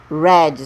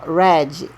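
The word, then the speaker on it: read: passado road escreveu jurid ler no passado red só vai mudar a pronúncia red leu continua da mesma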